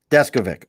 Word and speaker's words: Deskovic: to say the uh diskovic is what i want to say that's pretty close uh the uh the pronunciation is descovit deskovic all right cool see um